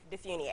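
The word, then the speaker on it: DeFuniak: How do you pronounce Very it? Very close. Dufuniak.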